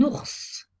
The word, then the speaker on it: ours: ya des exceptions un ours on prononce le s final une lettre mu est